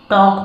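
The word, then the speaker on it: talk: यह वर्ड्स है और इस टॉक में जब के के पहले एल हो तो वह एल साइलेंट रहता है हमेशा तो इसको टॉक पढ़ते हैं ना कि टॉक ठीक है तो यह इंग्लिश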